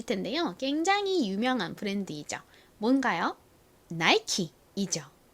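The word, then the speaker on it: Nike: 보통 잘 아실 텐데요 굉장히 유명한 브랜드이죠 뭔가요 나이키 이죠 나이키는 이렇게 앤 라고 적는데요 사실 보통의 영어식 발음을 적용을 하면 원래이 단어는 나키가 아니라 어떻게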